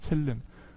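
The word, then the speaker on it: צלם: 첼렘. 첼렘이라고도 하기도 하고 첼렘이라고도 하는데요. 한번 따라해 볼까요? 첼렘.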